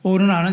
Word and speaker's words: 오르난: 아라우나는 여부스식 발음 이방 발음이고요. 오르난는 히브역 발음입니다.